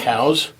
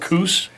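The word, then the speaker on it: Coues: i think challenge them it's cows not coos yes i will give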